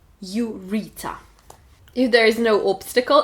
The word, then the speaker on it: ureter: В слове «мочеточник» «ю» также звучит как в алфавите «ю», но ударение мы ставим на второй слог ureter.